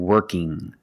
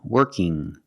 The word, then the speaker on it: working: young strong and working when you have iing at the end it makes a sound working not working G there's no G sound it's the sound working now sometimes when you see ing you hear working working that's also correct correct prononciation you can say working or working with the n Sound now what happens